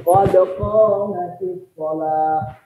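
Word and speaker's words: قد قامت الصلاة: Kalau ini adalah sukun dalam kaidah bahasa Arab, kalau disambung sukunnya kepada kalimat sesudahnya, Karena ini capek betul bacanya. Qad qamat as-shalah. Capek itu bacanya. Betul nggak? Maka disambunglah qamat dengan as-shalah. Kaedahnya kalau disambung nggak boleh pakai u, nggak boleh pakai a, pakai i. Sudah. Qad qamatis shalah.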